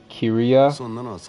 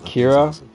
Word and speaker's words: Kiryu: His name is Kiria, not Kira.